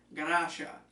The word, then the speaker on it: Garasha: her more coming in Ganesha the Japanese pronunciation of Gracia when Tanaka returned home